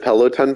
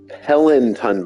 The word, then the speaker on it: Peloton: that it's so funny I actually never knew how to say the word Peloton bike and so in the video when I said it I kept on calling it The pelant ton bike and I don't know